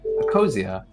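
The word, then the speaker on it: Ecosia: org i tried using this for a while a cosia it's a circle yeah that plants trees yeah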